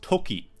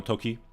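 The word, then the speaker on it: 時: learned actually it was Toki time this same kanji if it's after a number can also be pronounced G as o clock so to talk about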